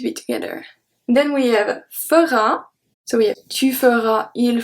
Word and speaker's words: feras: Then we have fera, so we have tu feras, il fera, elle fera, on fera. The S at tu feras is not pronounced.